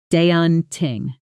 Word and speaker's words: daunting: Deon ting stress on the first syllable and that a sound is like the a in law. Practice with me.